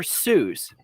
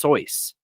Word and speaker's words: Seuss: remember it now um so Dr Seuss that's not actually how you pronounce his name he actually wrote a poem about how to pronounce his name and it's actually pronounced soyce uh fun fact that's